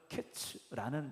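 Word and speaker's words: קץ: 히브리어로 보면 여름 과일은 카이츠라는 단어로 이제 쓰여지게 되고 끝이라는 건 캐츠라는 단어로 쓰여졌어요. 그러니까이 두 소리가 발음을 어떻게 하느냐에 따라서 상당히 비슷하게 들려지는 단어입니다.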